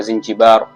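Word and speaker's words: زنجبار: Na hadi leo Zanzibar kwa Kiarabu unapoiandika unaiandika Zinjibar, na utamkaji wake kwa Kiarabu inatamkwa Zinjibar.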